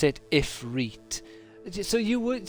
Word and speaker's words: Ifrit: ifriet so you would so you would say Ifrit like he does in the game oh God oh no no it's two eyes though isn't it isn't it um i f r i t Ifrit why would you pronounce the second a different to the first one foreign to the problem